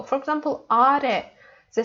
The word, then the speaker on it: 아래: is important notion that we have to put our stress in the word for the last syllable. It's important. Okay, let's practice. 아래. You know, 아래, not 아.